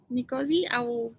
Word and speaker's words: Nkosiyazi: right yeah king a warm welcome to you nicosia is that a correct pronunciation or any it's just uh